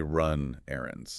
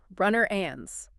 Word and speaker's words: run errands: We don't say run errands. No, we slur the consonant into the vowel so it sounds more like one continuous word. Runner ands.